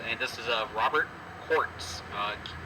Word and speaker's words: Kautz: our smaller stones and this is of Robert quartz uh it's pronounced almost like Jewel quartz um so what